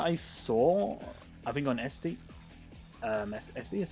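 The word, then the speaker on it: Etsy: was one that I saw I think on SD SD is how you pronounce it e-s-t-y and it looked pretty good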